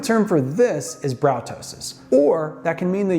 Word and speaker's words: ptosis: The medical term for that, ptosis. Don't pronounce the p.